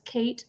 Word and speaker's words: Cait: kill Kate Flanders yes and it's spelled c-a-i-t Kate Flanders and in her book